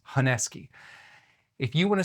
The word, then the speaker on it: honesuki: I have looked at so many videos in how people from Japan pronounce honuki and it's heski.